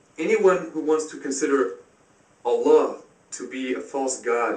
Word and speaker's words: Allah: The Arabic word is Allah. The difference is mainly the elongation of the L, Allah, as opposed to Allah.